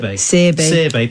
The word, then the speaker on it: Searby: Searby. But, you know, you pronounce it quite poshly, so I'll go with that.